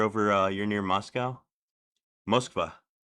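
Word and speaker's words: Москва: Mosva. That's how they say it in Russia.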